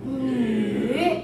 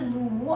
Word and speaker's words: 女: 女, 很好. Not the 奴, 是 U sound.